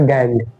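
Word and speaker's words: gangue: ठीक है, प्रोनाउंसिएशन इसका गैंग।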